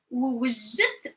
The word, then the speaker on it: ووجدت: First of all, put the first one and you have to take a break. حسنت ووجدت راسي. ووجدت راسي. ووجدت راسي. So kind of like you are combining it. وجدت راسي. وجدت راسي. ووجدت راسي. So over here you can pronounce this one as oo. Oo. So scale oo and oo. So وجدت راسي. وجدت راسي. It makes it easy.